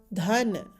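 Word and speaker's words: धन: So this in bold, the forceful sound as in this. So it's not the, it's the forceful sound the. And nestna joins to make the sound dhan, dhan. Pronounce this as dhan.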